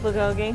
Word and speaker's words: bulgogi: And you said it right, bulgogi.